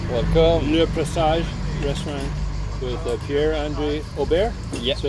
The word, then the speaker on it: Pierre-Andre Aubert: Le Presage restaurant with Pierre-Andre Aubert. Yeah. So it's how it's pronounced?